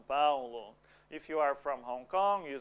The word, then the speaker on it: Hong Kong: Em português, o H não tem som no começo da palavra. So, Hong Kong, Hong Kong. No sound at the beginning of the word.